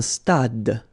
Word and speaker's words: stade: Un stade. Same thing here. Final is not pronounced.